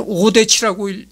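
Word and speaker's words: 유대치: 그러니까 이게 진이라고 읽기보다는 치라고 읽어야 되리라고 생각합니다. 하여튼 거듭 얘기하지만 한문도 여러 가지 발음으로 읽는 경우가 있어요. 그리고 또 여러 가지 뜻을 내포하는 경우가 있습니다. 그래서 이건 오대치라고 읽습니다.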